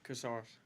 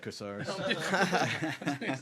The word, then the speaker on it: Koursaris: Koursaris. I'm just not gonna say it. Koursaris.